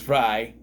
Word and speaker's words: Frey: a a Spanish pronouncement Frey I don't know but I have people with that I know I have relatives with that last name and it's pronounced fry so I'm just saying uh